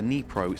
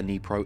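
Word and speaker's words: Dnipro: But how does the Nipro stack up? And yes, I did Google, I believe that's the correct pronunciation. It's definitely a silent D, I know that much.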